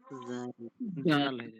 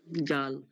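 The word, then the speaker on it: ذال: দিয়ে দিই কি হলো জাল জাল জালটা আমরা উচ্চারণটা ঠিক করে বলবো বরকিয়া মতো বললে হবে না জাল যে বলবো জিহব্বার আগাটা সামনে দাঁতের আগাতে লেগে বলবো জিহব্বার আগাটা মানে জিহের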